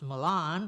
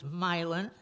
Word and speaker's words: Milan: poems Bellingham Marietta milin you might think that should be pronounced Milan but it's milin so that's what gave